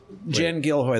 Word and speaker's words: Jen Gilhoi: Jen Gilhoi, that's the name. Right. Got yes, it. Yeah, that's the first one.